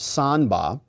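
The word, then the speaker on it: 三八: trivia love trivia says in Chinese the number 38 is used in slang pronounced sanba as a way of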